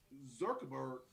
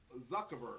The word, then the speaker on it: Zuckerberg: technology in your home zurkeberg am i saying that right no change how peter not saying that right he checked i still didn't say it right zurkerberg you're still saying zerkerberg zuckerberg there you go